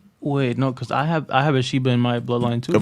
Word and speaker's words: Sheba: Sheba, not Shiva.